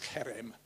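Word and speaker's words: חרם: And in the NIV footnote, it says the Hebrew term, and it hasn't come out properly there, but it's pronounced herem, refers to the irrevocable,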